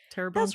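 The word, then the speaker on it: Terrebonne: Terabone Parish from that's me. That's Terabone.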